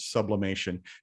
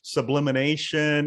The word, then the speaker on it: sublimation: or five years uh people actually know how to say the word sublimation because how many times have we heard sublimination and uh a thousand variations